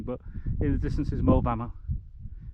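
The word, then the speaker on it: Moel Famau: hardly see anything but in the distance is mo bama it's spelled m-o-e-l f-a-f-a-u those little trick points are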